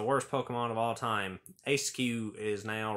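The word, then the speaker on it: Eiscue: designs has to be a skew or esq I think it's a skew that's how I'm gonna pronounce it how you pronounce this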